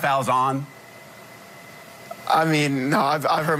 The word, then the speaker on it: Falzon: stop mispronouncing your name, even though there's no E at the end, that it's Falzon and not Falzon?